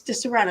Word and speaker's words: Disaronno: It's Disaronno. That's how it sounds.